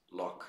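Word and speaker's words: Loch: lock Kelly puts it lock like the links in Scotland l-o-c-h Kelly well you know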